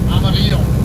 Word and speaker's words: Amarillo: Oh, let me pronounce that the right way before my wife chastises me over that. Amarillo.